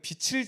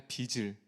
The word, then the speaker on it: 빚을: 그래서 끝나고 자기야 발음 똑바로 해봐. 빛을이 아니라 빚을. 빛을이 아니라 빛을 아니 빛을이 아니라 빚을 지다.